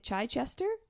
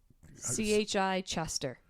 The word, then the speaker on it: Chichester: Try Chichester? C-H-I Chester.